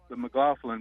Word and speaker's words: McLaughlin: pretty cool seeing the McLaughlin brothers playing against each other last night. Yeah. Is that how you say their last name? That is how you say it.